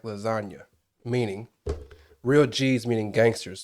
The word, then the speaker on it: lasagna: And then obviously there's a silent G in lasagna.